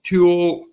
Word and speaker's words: Tooele: Prior to being in Toole, and this is spelled Tooele, Candace left the treatment center in Salt Lake City, Utah, responsible for her medical care.